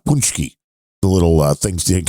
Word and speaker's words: pączki: k i oh oh how' you pronounce that punchki paski I've always heard punchki I would say paski but maybe I'm wrong but that's that how I would pronounce that word could be a different